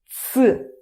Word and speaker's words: ц: Okay, this one is ц. ц is even easier. ц is pronounced as it's.